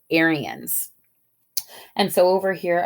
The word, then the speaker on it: Aryan: about this group called aryans and so over here i've got phonetically spelled out air e ends um aryan and so an aryan